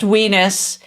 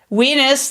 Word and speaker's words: WNIS: probably remind everyone wnis world's nerdiest improv show pronounced wenus weenus that is a URL on the screen if you type in HTP colon.